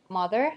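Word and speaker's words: mothur: I don't think it makes any sense that mother actually so this is is spelled mother not Mo M or something and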